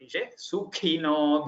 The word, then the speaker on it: सुखिनो: Sukhina, the kha should not become ga. Sukhino bhiremire.